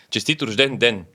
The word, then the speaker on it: Честит рожден ден: I think pen was at the end. Pen? Den. Den is like a day. Честит рожден ден.